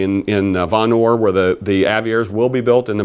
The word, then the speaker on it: Aviara: There's the phonetics. Aviara. Just if you look at it, break it, take the I and put a little, separate it. Aviara. Aviara. That's how you pronounce it.